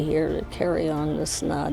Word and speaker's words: Snaadt: My name is Snaadt. It rhymes with odd, and you're listening and